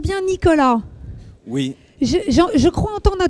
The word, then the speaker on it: Nicolas: Est-ce qu'on prononce bien Nicolas?